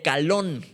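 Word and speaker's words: קלון: la deshonra deshonra viene del hebreo calón con acento en la ocalón con sea al principio y acento en la o y significa desgracia afrenta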